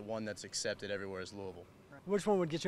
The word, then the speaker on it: Louisville: wrong now what's uh some of the variations that people say Louisville uh Louisville Louisville is the real Southern one and then just like the the one that's accepted everywhere as Louisville which one would get